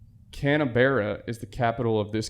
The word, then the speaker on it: Canberra: Oh, dude, no, it's Canberra. It's spelled Canberra.